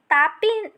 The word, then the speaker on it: ताप्ती: है वहीं ताप्ती नदी ताप्ती तापी को ही हम ताप्ती कहते हैं ताप्ती नदी से उच्चारण में कहा जाता है लेकिन संस्कृत में इसको